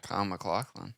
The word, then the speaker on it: Kyle MacLachlan: Kyle MacLachlan.